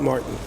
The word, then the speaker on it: Mårten: I'm at Getaway and I have the great pleasure to talk to Morton from Mishuga. Do you say Morton or Martin? Morton. Morton. We're in Sweden so Morton. Yeah. Yeah. Abroad. Martin.